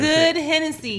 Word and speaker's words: GoodHenneC: It's good Hennessy. You got Good Hennessy.